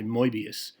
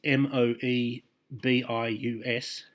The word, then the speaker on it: Moebius: So the first one I'm going to give you is, I'm not sure how you pronounce it, I would say Moebius. That's Moebius, as in the Moebius strip.